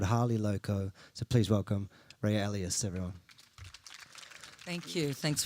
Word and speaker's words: Rayya: I'm saying it right? Rayya? Rayya. Rayya, okay.